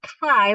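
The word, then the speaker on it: chi: a Greek letter um it is pronounced a Kai so the K with the long I sound and it is a squared so Kai squared so we will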